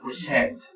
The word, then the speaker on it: present: quiero representarlo como verbo, se lo representa como la mayor fuerza de voz en la siguiente sílaba. En este caso sería present.